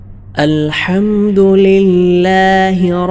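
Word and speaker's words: الحمد لله: ഫാത്തിഹയിലെ രണ്ടാമത്തെ ആയത്ത് അൽഹംദുലില്ലാഹി റബ്ബിൽ ആലമീൻ.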